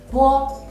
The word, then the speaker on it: bo: Bo is a plosive initial. When pronouncing bo, you have to close your mouth and let the air go through your mouth. In the meantime, your lips block the airflow.